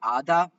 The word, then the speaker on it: ADA: Cardano, which a coin is ADA or ADA, depending on how you say it, which has rallied in excess of 600% since March.